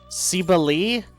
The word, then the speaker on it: Cybele: Cybele or Sybil? Cybele? Apparently that's how it's pronounced.